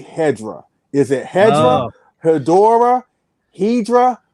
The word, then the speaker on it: Hedorah: so gatekeepy, but basically the word is Hedorah, and it's not Hedorah, which would mean something entirely different and spelled entirely different in Japanese. So Hedorah, Hedo means something sludgy, I think. Hedorah? Yep. I think it is. Hedorah. So essentially, the Japanese name is Hedorah, and I said it wrong because of the dub.